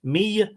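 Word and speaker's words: Mide: held in common done Mia is pronounced me okay me I'm a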